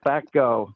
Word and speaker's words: FECO: like, no, FECO, full extract with an E, so with an F. So I just always tell people, just like it rhymes with terror, FECO rhymes with echo.